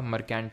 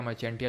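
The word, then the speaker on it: Marchantia: यहां पर लिखा होगा मर्केंट या मर्चेंटिया जो भी प्रोनाउंस करो ठीक है अब और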